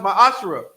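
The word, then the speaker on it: מעשר: Malachi 3 8 through1 means 10th in Hebrew is pronounced my ashra 10% of every penny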